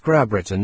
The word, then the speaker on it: Grabrittin: England Scotland and Wales subsequently we heard it pronounced grab Britain and gr Britain I then asked the